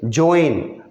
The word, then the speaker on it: Joanne: ये स्पेलिंग देख रहे हो, JOANNE, इसको पढ़ेंगे जोएन।